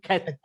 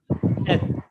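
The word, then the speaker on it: Heth: When you say Keth, so it is like a clearing of your throat. Cat. This gutters comes very close. Keth.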